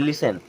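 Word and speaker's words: listen: शब्द एक होता है लिसन हमेशा आप उसको लिस्टन पढ़ते होंगे और टीचर बताते हैं कि वो लिसन होता है यानी कि सुनना आर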